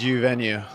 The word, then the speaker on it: Uvenu: Did I pronounce it right? It's U venue.